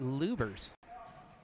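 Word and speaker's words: Lubbers: That is Lexi Lubers picking up her first. I got corrected on the pronunciation there. Even though there are 2 B's, it's pronounced Lubers.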